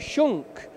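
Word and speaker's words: Schunk: to move on now to Rowan who's it Shunk and before today I kept getting that name wrong because I kept saying it wrong so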